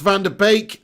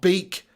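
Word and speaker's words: van de Beek: says i'm dutch and it's not pronounced van der beek not beak sorry it's pronounced van der beek not beak okay my bad yeah donny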